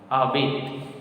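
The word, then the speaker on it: habite: This all will be silent because already I told we pronounce or at the end when word is made of one syllable, made of maximum 3 letters.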